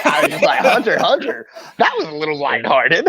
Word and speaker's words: Hunter x Hunter: And turned around and said, it's Hunter x Hunter, you cunt, and then just walked off. So keep that same energy. Cunt. You don't pronounce the X.